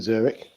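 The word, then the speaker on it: Züri: lots of bankers in Zurich and apparently they're very good with their hands while they're banking. Um, and it's pronounced Zuri in the local dialect and um, one nil France.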